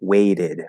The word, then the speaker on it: weighted: Wait becomes weighted, and in American English, that T is going to turn into a flat D.